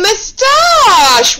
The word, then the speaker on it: moustache: That's right, it's a moustache. Well done. Okay, give yourselves a moment to have a go at spelling the word moustache. Moustache. Remember, again, it sounds like shh, which you think should be